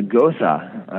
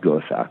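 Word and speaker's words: Gose: It's a Gosa. It's G-O-S-E. And it's not a goose, not G-E-U-Z-E. It's G-O-S-E-E. And I'm pretty sure it's pronounced Gosa.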